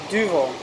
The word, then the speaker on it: Duvel: Am I pronouncing that correctly? Duvel. Yeah. The long U.